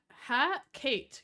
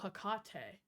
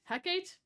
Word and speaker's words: Hecate: What the Ha ha Kate. You pronounced her name. I've always pronounced her name Hakate. Oh, Hakate. What did I say? Heckate. My bad.